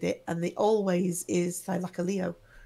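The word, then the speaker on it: Thylacoleo: and they always is thilaka Leo it's always ended with Leo as the emphasis H so whereas I do pholio um I've only in documentary has heard it it's pronounced thilaka Leo it's a yeah Sil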